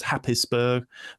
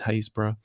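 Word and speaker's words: Happisburgh: where I'm sat now a place called hazra spelled with the double P sounds like it should be said as hapis spur but is hazb where they found that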